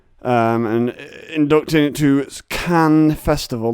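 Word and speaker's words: Cannes: really it's not i can't imagine he's gonna be releasing it as a feature um and inducting it to can festival that's right can not cans you own cultured swines it's khan it's james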